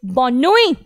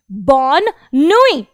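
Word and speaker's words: bonne nuit: अभी आपको ये याद रखना है कि एंड में कॉन्सोनेंट को प्रोनाउंस नहीं करना है, इसलिए हो गया बॉसुआ बॉसुआरे बॉसुआरे, और गुड नाइट बॉनोई बॉनोई।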